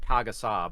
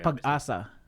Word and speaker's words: Pag-asa: How's it pronounced? I've been calling it Pagasa, but it's not It's pronounced that way. Pag-asa. Pagasa? Pagasa. Pag-asa, yes. Pag-asa.